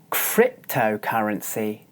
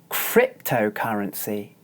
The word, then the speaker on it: cryptocurrency: it's written like this the first consonant sound in this word is the cluster watch carefully cryptocurrency cryptocurrency as you can see I'm using this mouth shape this is the same mouth shape that we use for the sounds and you notice that my upper teeth are biting into my lower lip and my upper lip is raised inside my mouth my tongue is curled back watch again cryptocurrency cryptocurrency